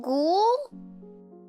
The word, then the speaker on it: ghoul: liquid from carpet gold it rhymes with rule oh ghoul oh my god i've been reading it wrong this whole time i don't know how i've been reading it it's just yeah it's like goal is the right way